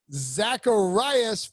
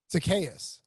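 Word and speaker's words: Zaccheaus: the team in fact it was ola miday zacharias former uva who you're so close you got the first name you got the last name wrong zacchaeus psychiatrist there you go didn't have an r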